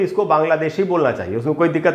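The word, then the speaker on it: Bangla: तो दोस्तों, इसको ब्रिटिश इंग्लिश में तो ऐसे पढ़ेंगे बांग्ला। अच्छा दोस्तों, ल के बाद आधा अ है, ये ला नहीं होगा, इंग्लिश की बात कर रहा हूँ मैं।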